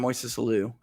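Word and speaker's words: Moisés Alou: We get 2 RBIs from Moises Alou.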